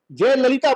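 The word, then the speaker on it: Jayalalithaa: पाते थे, जिनके, जैसे आप दक्षिण में जय ललिता बोलते हैं, वहां त का कंसेप्ट नहीं है, थ है। इंग्लिश में देखेंगे आप तो THA लिखा रहता है आखिर में, तो वहां थ का उच्चारण है।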